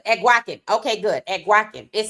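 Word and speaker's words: Eguakun: It said pronounced Euacan. Okay, good. Awaken.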